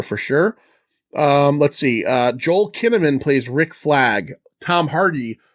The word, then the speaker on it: Kinnaman: So Joel Kinnaman, whose last name rhymes with cinnamon, took over.